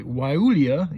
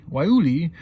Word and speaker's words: Guayule: I'm not even going to pronounce it anymore because I just keep wanting to say the G.